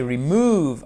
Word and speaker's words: remove: Mais si vous ne savez pas prononcer remove en mettant bien l'accent tonique ici sur la deuxième syllabe.